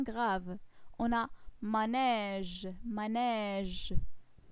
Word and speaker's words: manège: On a manège, manège. j'ouvre bien ma bouche pour prononcer le son E dans ces mots.